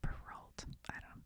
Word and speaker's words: Perrault: The Perrault, I said it right the first time, the Perrault, volume contained no nursery